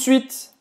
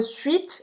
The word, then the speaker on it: suite: E aí, esse E no final de suite, eu não vou falar, né? Também. Eu não vou dizer suite, vou dire suite. À tout de suite. Ou seja, termina no T, a pronúncia.